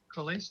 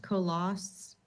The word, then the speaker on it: Colas: It's pronounced Colas. It's Thank you, French. Colas. Many people think it's Italian. They pronounce the E, but the E is silent.